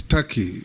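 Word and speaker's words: Türkiye: the comments made by it is not called Tak it's Taki it's only written Tak but it's pronounced Taki thank you I that is the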